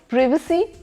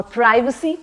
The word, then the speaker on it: privacy: Because प्रिवेसी भी होता है, दैट्स द ब्रिटिश प्रोनाउंसिएशन, और प्राइवेसी भी होता है, दैट्स द अमेरिकन वन।